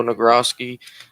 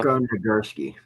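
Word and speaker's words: Nagurski: ernie davis syracuse 14 bronco nagrosky minnesota probably just butchered that his name uh gursky gursky okay doc blanchard army and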